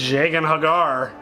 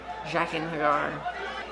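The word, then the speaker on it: Jaqen H'ghar: But she knows Jagan Hagar. Did you just say it right? I don't think I said it right. Totally fuck up every time. That's a tough name. Jaqen Hagar.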